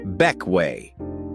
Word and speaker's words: Bequia: Number four takes us to the Grenadines and a green sailor's haven pronounced Bequia, the largest of those magical little islands.